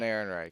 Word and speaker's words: Ehrenreich: the man who's playing Han Solo, I can't pronounce his last name. Alden Ehrenreich.